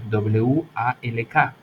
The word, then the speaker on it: walk: Por ejemplo, en caminar, W-A-L-K, la L no suena, digo walk, walk, walk, ¿ok?